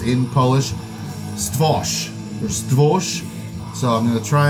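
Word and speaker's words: Stwór: Stworz is pronounced in Polish Stwosh or Stwosh.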